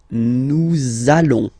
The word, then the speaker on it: nous allons: I'm sure you are, you want to make this beautiful and little liaison, so this little link between the words, so it does mean that you will have to pronounce this z sound.